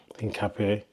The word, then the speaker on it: Hincapié: I keep saying his name wrong, man. Hincapié.